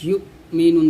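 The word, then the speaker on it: يؤمنون: দেখুন এখানে ইউমিনুন বলতে হবে, এই হামজা উচ্চারণ করতে হবে।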